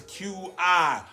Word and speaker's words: Qi: And for you guys who don't know what Qi is, it's Qi, pronounced as Qi.